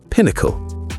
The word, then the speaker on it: pinnacle: When you pronounce it, make sure to stress the first syllable, pinnacle.